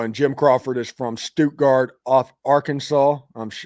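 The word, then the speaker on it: Stuttgart: Oh, and Jim Crawford is from Stogard, Arkansas. I'm I think it's pronounced Stoutgart.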